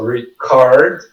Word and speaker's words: record: Então, ó, nesse caso aqui, a gente tem a apóstrofe antes do co, so record. The co é a sílaba mais forte.